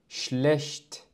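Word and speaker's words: schlecht: شلشت. ونلاحظ سبب نطق الشين الشديدة هو أن مقطع التساولها سبق بحرف أس.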